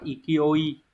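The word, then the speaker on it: 勢い: Này đọc là ikioi.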